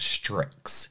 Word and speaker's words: Stryx: gonna piss me off I believe the brand is pronounced strix so strix is one